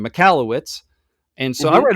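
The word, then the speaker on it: Michalowicz: It's by Michael, how do you pronounce his name? Mikalowicz.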